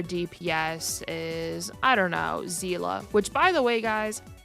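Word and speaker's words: Seele: it should be pronounced I just know that it's zela because the voice actors in this game they literally call her Zila so I've just been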